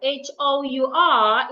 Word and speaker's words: hour: Hour, H-O-U-R, is pronounced hour. The H is silent.